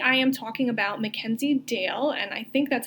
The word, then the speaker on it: Dayle: So today I am talking about Mackenzie Dayle, and I think that's how you say her name. It's Dayle.